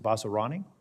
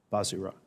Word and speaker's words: Vazirani: Is it Vasarani? Vazirani.